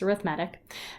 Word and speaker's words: arithmetic: Some people say arithmetic, but it's not spelled the same, so it's arithmetic.